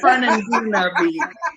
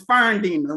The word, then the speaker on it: Fernandina: the country coming out it's fun and gooner okay but uh to those who live there and love it it's fern dinner we take a whole syllable out so firmly the beach